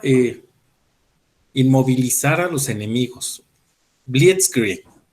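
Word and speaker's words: Blitzkrieg: inmovilizar a los enemigos blit Creek blit Creek algo así se se pronuncia en alemán la Guerra Relámpago y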